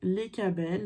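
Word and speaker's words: Lecabel: votre ange gardien et les cas belle l'enjeu numéro 31 ça s'écrit les cas belle l e c à b elle l'enjeu numéro 32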